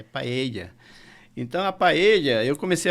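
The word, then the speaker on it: paella: pae e é paeja não é paeja a paeja vocês vão comer lá na Argentina tá o espanhol fica irritado com essa pronúncia de paeja é paea então a paelha eu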